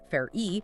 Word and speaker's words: Farrey: So, to get there, we are pulling from recent congressional testimony from Tom Farrey, F A double R E Y, pronounced Far-E.